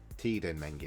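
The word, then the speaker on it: Teden Mengi: Tiden Mengi, that's how you say it.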